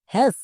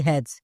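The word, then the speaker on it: has: যেমন দেখো প্রথমে এস যদি কোন শব্দের একদম শেষে এস থাকে অনেকেই এখানে এস এর জন্য দন্তস উচ্চারণ করে যেমন এস আস এটা উচ্চারণ করা চলবে না। এটা অনেকেই উচ্চারণ করছো। তাই তো রিডিং ভুল হচ্ছে। আমরা এর জন্য উচ্চারণ করব এজ।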